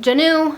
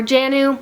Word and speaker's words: Jaanuu: are from a company called janu or jannu I've heard it pronounced both ways and I have talked